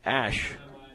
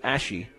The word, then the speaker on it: Ash: And Zach Ash, I believe correct pronunciation now from what I hear is Ashy.